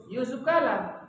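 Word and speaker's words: Jusuf Kalla: Padahal kalau dipanjangkan Yusuf Kala. Kenapa enggak Yusuf Kala? Karena itu ejaan lama.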